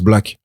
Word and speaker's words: Black: Non, ça se prononce Black.